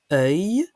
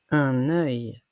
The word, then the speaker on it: œil: Œil ne s'écrit pas EUIL. Ça s'écrit œil, E dans l'eau, IL. Œil. Un œil.